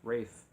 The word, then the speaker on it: Ralph: and as I'm told even though it says Ralph it's pronounced Rafe and his last name